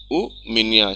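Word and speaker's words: у меня: U minya, stress is on ya.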